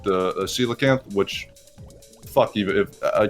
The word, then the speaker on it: coelacanth: handle, so like the coelacanth, which fuck, even if a kid can't even imagine. I mean, it's not phonetically spelled at all, so that's kind of forgiven. That was cocalanth in my head.